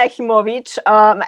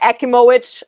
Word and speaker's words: Achimowicz: So my name is Anna Achimowicz, as we say in Poland, but the American version is Anna Achimowicz. Clearly, how they say it in California, which is where I was raised in San Diego.